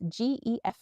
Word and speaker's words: Gefjon: How do I pronounce this? Geffion? Geffion? It's Gefjion.